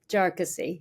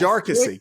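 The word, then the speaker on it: Jarkesy: interrupt this is the Jessi case if I'm pronouncing it correctly jarcy yes jarcy got it the empasis on the other salel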